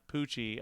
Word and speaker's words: Pucci: The main actor in this movie, for the start of his career, Lou Taylor Pucci, I believe is how you pronounce the last name.